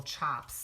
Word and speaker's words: tjap: takes to make a chop and I guess it's it's dependent on the design but it's spelled TJ a PS but you say it's ch Oh PS so that's what